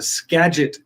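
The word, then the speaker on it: Skagit: to go help with water rescues and the Scadget River Valley. Now I know how to pronounce that.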